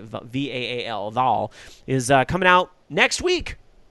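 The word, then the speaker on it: Vaal: I hope I'm pronouncing that right. V-A-A-L, Val, is coming out next week.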